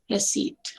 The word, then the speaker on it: receipt: बट बेसेट, rest, but रिसीट, इसमें P silent है. Receipt.